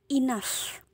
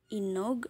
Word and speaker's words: enough: kita bacanya a nah gh-nya dibacanya huruf F huruf F loh jadi ini cara bacanya itu enough terbayang cara bacanya enough Oke jadi bukan inog atau enog ya seperti itu memang